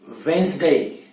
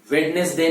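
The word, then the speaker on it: Wednesday: और वेंसडे, वेंसडे, वेडनेसडे नहीं, वेंसडे, बुधवार।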